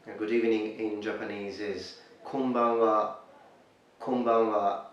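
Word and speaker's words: こんばんは: Good evening in Japanese is konbanwa, konbanwa. So let's break it for pronunciation. Ko, n, ba, n, wa. Konbanwa, konbanwa.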